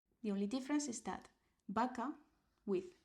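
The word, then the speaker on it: vaca: So sounds B and V are the same B.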